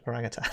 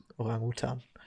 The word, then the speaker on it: orangutan: That's how you say it in English, orangutan. I keep saying it wrong because in German it's orangutan.